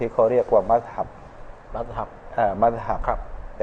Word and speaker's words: มัซฮับ: อักษร มีม เข้า ไป ข้าง หน้า อ่าน ว่า มัซฮับ ซึ่ง ใน ทาง ภาษา ของ มัน เนี่ย แปล